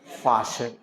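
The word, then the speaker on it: fasten: ई R butcher butcher F ए एस टीई एन फशन फास्ट नहीं करना फशन इसको यह देखिए बहुत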